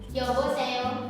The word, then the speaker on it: 여보세요: 여보세요. Untuk pelafalannya tadi yo antara e dan o menjadi o.